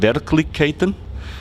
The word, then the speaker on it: Verkligheten: recently it's it's called their clique Katyn is it is it pronounced right it's good good it pays off that I'm in Stockholm more often than in Vienna yeah so it's called very Titan which is translated to